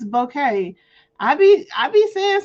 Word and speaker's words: bokeh: B O K E H. Let's hear it. Bouquet. Bouquet. I call it bokeh, but it's apparently it's bouquet.